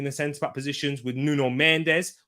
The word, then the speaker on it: Mendes: centre-back positions with nuno mendes or nuno mensch as he meant to pronounce it in portuguese left back and the